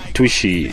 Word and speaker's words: Tushi: it's the same pronunciation mine is tushy most people call me tush okay which is also cool i mean i just find it but it is tushy i don't know if